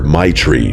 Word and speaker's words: Maitreyi: She laughed and told me everyone just calls her Maitri because that's basically how you pronounce it.